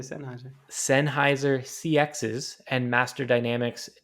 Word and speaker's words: Sennheiser: say this company's name sennheiser sennheiser it's not seinheiser obviously it's not even spelled like that i don't know why